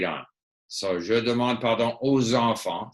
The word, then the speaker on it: aux enfants: So, je demande pardon aux enfants. So you have to say aux enfants.